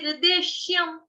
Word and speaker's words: निर्देश्यम्: अगर यह 'शाम' हो जाता है, तो इसका मतलब है कि हमने 'या' को छोड़ दिया है। हमने 'या' को निगल लिया, लेकिन हमें 'या' को नहीं निगलना चाहिए। निर्देश्यम ',' निर्देश्यम '.